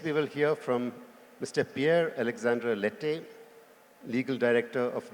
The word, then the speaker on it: Pierre: As he said, my name is Pierre Alexandre Lette, but the Indian pronounce Pierre. But my name is Pierre.